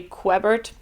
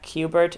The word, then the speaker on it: Quebert: came out probably and I was pronouncing it Harry quebert in my head until Carlos informed me that cubert is the more likely pronunciation but for the purposes